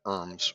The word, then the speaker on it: URMS: management system or urms the utilities pronounce it irms which I think is humorous but um in